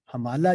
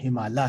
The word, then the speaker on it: ہمالہ: یہ اچھا یہ ویسے اس کا تلفظ جو ہے نا ہمالہ ہے، کیونکہ میں نے جیسے عرض کیا تھا کہ ہم اور آلہ یہ دو لفظ مل کر یہ لفظ بنا، اور ہم سنسکرت میں